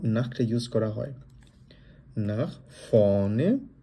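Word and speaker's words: vorne: নাখ ফনে, কারণ জার্মানে এটাকে আমরা কি বলি, এটাকে আমরা ফাও বলি, ওই জন্য ফ এর মধ্যে উচ্চারণ হবে। আর যেহেতু মাঝখানে আর আছে, এই আরটা আমরা উজ্জ্ব রেখে আমরা বলার চেষ্টা করব ফনে, নাখ ফনে। কেউ যদি ফরনে বলতে চান সেক্ষেত্রে সেটা ভুল হবে না, তবে আমরা চেষ্টা করব সঠিকভাবে বলার জন্য।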